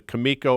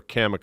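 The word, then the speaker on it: Cameco: American in uranium is depending on how you pronounce it either kamiko or camoo I'm a camoo guy but the symbol is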